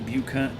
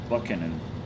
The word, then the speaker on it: Buchanan: Look up Lady Buchanan Buchanan. Probably pronounced Buckan.